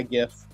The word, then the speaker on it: GIF: I call it a GIF. I'm a hard G guy, GIF. I know some people call it GIF like the peanut butter, but to me it'll always only be a peanut butter.